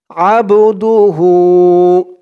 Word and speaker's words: আবদুহু: হয়তো ভুল হয়েছে এখানে উচ্চারণ হবে আবদুহু টান হবে আবদুহু আবদুহু থামার কারণে উচ্চারণ